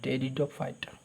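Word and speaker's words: Pteridophyta: क्या होगा draw phyta P इसम साइलेंट टेरिडोफाइटा होगा य साइलेंट है चलते हैं आगे केमिकल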